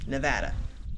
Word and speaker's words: Nevada: nevada by the way that's how locals pronounce it nevada sheep you see that